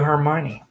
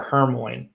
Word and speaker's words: Hermione: spell it out but i used to call her hermoine so in the first three books when i would read and talk to my friends i called her hermoine granger and uh that's not how you say it and in the fourth